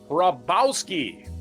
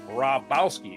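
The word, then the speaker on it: Hrabowski: Mar'Yorn, m a r e y o h f Raboubski, h r a b o w s k. Raboubski's a little bit easier to pronounce, I guess, if you ignore the uh h.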